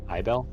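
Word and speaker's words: Aibell: the name a-i-b-e-l-l a-i-b-e-l-l able i i don't feel like able's right i would pronounce it but i bell that's fine uh that's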